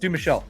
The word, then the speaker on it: Dumouchelle: His last name is spelled D U M O U C H E L L E, pronounced DM Michelle.